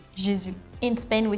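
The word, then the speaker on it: Jésus: it Jus maybe okay in France we do not have this autography so we have the accent on the U so we just say jizu in Spain we say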